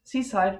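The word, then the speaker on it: CSIDH: So seaside, just to be sure that this is pronounced seaside, because, well, we developed this when we were at Tenerife.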